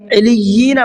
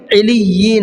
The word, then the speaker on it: علیین: یہاں پر کیا غلطی ہوتی ہے؟ علیین پڑھتے ہیں. کیا پڑھتے ہیں؟ علیین. حالانکہ یہ غلط ہے، لام کی تشدید چھوٹ رہی ہے. اب دیکھیے کیسے پڑھنا ہے. علیین، علیین، علیین. چلیے ان لفظوں کو آپ درست کیجئے، اور ان جیسے اور بھی جو الفاظ آئے ان کو اسی طریقے سے پڑھنا ہے. پہلے والی تشدید پر بھی رکنا ہے، دوسری پر بھی رکنا ہے.